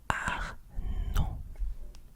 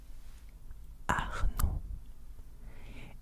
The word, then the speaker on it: Arnaud: In French, the D is silent. It's silent. So you don't pronounce the D. So you would say something like Arnaud. Arnaud, yeah.